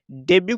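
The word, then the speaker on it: debut: डेब्यू करना, टी का उच्चारण नहीं करते हैं।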